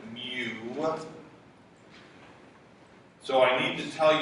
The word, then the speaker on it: mu: by the Greek letter looks like a u we pronounce it mu so I need to